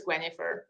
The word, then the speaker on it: Gwenhifer: Oh, she's named after the wife of King Arthur, Gwenhifer, and to have an easier German way of pronouncing it, it's Gwenhifer.